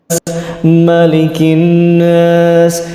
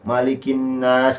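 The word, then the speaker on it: مَلِكِ النَّاسِ: dari bacaan Bang Pras malikinas Nah itu malikinnas kurang lama Nun tasydidnya itu kesalahan ketujuh kita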